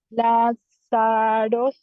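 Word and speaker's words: Λάζαρος: Es como la, esta es una Z, se pronuncia como una Z. Sa. Excelente. Y esta última, Ro. o sea que léeme la palabra completa. Lázaros.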